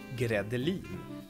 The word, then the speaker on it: gredelin: spelled like grädde, and I guess it's not related to that word either.